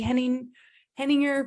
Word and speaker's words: Henninger: We have Keely Henninger here with us today. Silent G there. I wanted to say the G.